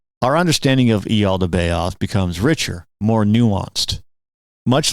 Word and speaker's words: Yaldabaoth: You can also pronounce the name Yaldabaoth. It starts with a J or it starts with an I, either way.